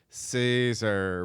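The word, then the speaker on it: Césaire: stabbed um number 10 grandma killed by caesar but it's spelled cesaire that's how they spelled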